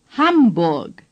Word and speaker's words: Hamburg: The letter A in German is pronounced A. Ham. Say, Ham. The letter U is pronounced U. Say, Burg. Now say, Hamburg.